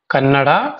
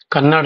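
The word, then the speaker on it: ಕನ್ನಡ: मुझे कन्नड़ा सीखना है, कन्नड़ नहीं है वो, आप सही तरीके से उसको प्रोनाउंसिएशन करना है आपको.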